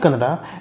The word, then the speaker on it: Kannada: Bangalore they have learnt Kannada and they use all basic words when it comes to commutation or shopping. However, even they find it very difficult to say Kannada and end up saying Kannad.